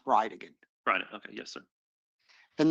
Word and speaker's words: Bridegan: And I'll represent to you that it's pronounced Bridegan.